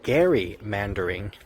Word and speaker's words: gerrymandering: It's actually gerrymandering. Gerrymander. Why? Because it's named after Elbridge Gerry and salamander. So you put Gerry and mander together and you get gerrymander, gerrymander, and of course